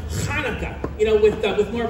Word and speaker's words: Hanukkah: Actually, Telly, it's pronounced Hanukkah. You know, with more of a ha. Huh, like that? No, more in the back of the throat.